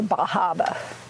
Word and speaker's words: Bar Harbor: of the Atlantic in Bar Harbor or bahaba as they pronounce it and uh and so